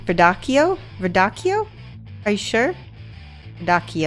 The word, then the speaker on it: radicchio: a 38 there we go good oh it's pronounced k vid Akio radicchio are you sure da ki oh okay I